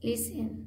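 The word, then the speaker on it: listen: इ एन हां लिस लिसन लिसन क्योंकि T silent है ई जो है एस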